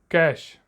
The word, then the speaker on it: cache: कैश, spelling है CACHE, कैश मतलब a hidden storage स्पेस